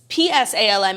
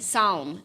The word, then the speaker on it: Psalm: Psalm. No, it's like balm.